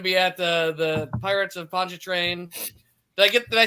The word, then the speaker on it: Pontchartrain: I'm going to be at the Pirates of Pontchartrain.